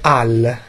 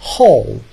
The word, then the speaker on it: Hall: Non si dice Al, ok? Si dice Hall, ok?